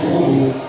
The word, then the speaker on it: Warble: However, here in the UK, we're just calling this Warble, because that's pretty much how it looks, so we just say Warble. Although even trying to say Warble, sometimes I get a little bit complicated.